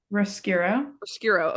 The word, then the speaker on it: Roscuro: Roscuro. Okay. Roscuro, right, lives in darkness, and he has this that's his whole life.